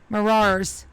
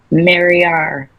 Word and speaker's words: Mariar: Marar's steps, right? Wicked, I think I'm saying that name wrong. Say it one more time for me. Mariar. Mariar. Mariar.